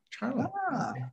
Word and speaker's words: Charlotte: A pronúncia é lit at the end, no final, né?